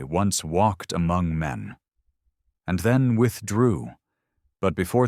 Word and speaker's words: me: The gods, they say, once walked among men, and then withdrew. But before they vanished, they passed down symbols, not miracles, mechanisms. The Mi, pronounced Me, were not mere concepts.